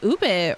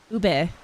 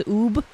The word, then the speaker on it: ube: Though I doubt that they would make Ube as a flavor for Oreos. Even though it is becoming more popular for Ube, to the point where I saw somebody pronounce it as Oob.